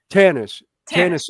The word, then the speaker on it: Tanis: Star Wars was in, I'm probably going to mispronounce it, but I think it was Tunis, Egypt, or Tanis. Yeah. Tanis, Egypt.